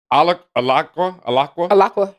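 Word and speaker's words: Alaqua: And I think they really saw Alakwa. I think they really saw her I hope potential. it's pronounced Alakwa.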